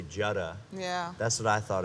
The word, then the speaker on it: Jutta: In America, your name is, well, they would say Jutta. Yeah. That's what I thought it was at first. Yeah, in the Netherlands they say Jutta, but it's actually Jutta.